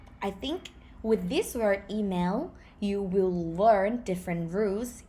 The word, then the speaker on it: อีเมล: ending so that's why thai people write it according to lolling which is l c l and lolling but we pronounce it with an ending not email but e mail the word chanel see